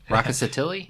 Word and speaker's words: Rkatsiteli: the only of the wreck Rock ah si tele varietal raucous Attili rocket rocket tests I know I shouldn't be doing the R and the K but that's my American pronunciation yeah so it's 30%